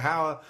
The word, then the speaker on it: Hauer: It rhymes the word Rutger Hauer with as many words that rhyme with Hauer as possible. It's fantastic. Hour, flower.